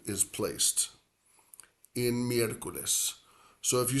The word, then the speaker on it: miércoles: Now, we have a four-syllable word for Wednesday. And Wednesday is one of 2 days of the week that has an accent. So we would say for Wednesday in Spanish, miércoles. Miércoles. Miércoles. Miércoles. Miércoles. And that first E, miércoles, like the start of that second syllable,